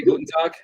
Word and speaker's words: Guten Tag: Guten Tag?